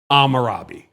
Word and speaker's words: Hammurabi: It's Hammurabi. Okay, am for short. The H is silent. Amarabi.